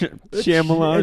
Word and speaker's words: Shyamalan: Shyamalan. Is that how you pronounce it? It's Shyamalan.